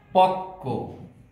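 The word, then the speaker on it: পক্ব: বিশ্বাস, পক্ক, কয়ের সাথে বফলা আছে কিন্তু বফলার উচ্চারণ হয়নি, কিন্তু যার সাথে আছে সেই বর্ণটি দুইবার উচ্চারিত হয়েছে।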